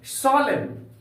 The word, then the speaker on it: solemn: दूसरा एग्जांपल लेते हैं प्यारे बच्चों हम लोग, सोलेम, SOLEMN, यहां पर एन के बाद एन का प्रयोग हुआ है, इसलिए इस एन का उच्चारण नहीं करेंगे।